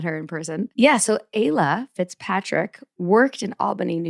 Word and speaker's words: Ayla: So let us introduce you to Ayla. That rhymes with Kayla.